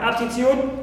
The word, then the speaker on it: altitude: is stress also itude like aptitude right altitude so here tud not stressed uh T not stressed and up okay is a is stress first syllable third